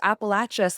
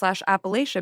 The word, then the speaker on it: Appalachia: pronounce Appalachia/ Appalachia because the answer is all of the ways that people pronounce it and you can listen to people who are from Appalachia/Appalia say Appalachia or Appalachia and they're both right which I think is cool.